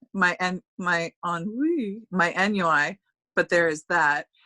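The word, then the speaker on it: ennui: think so and then what i read is nui is on me i learned how to pronounce that i want to say like four months ago i really don't agree i think i think nui sounds a lot more sophisticated than on wee it sounds like what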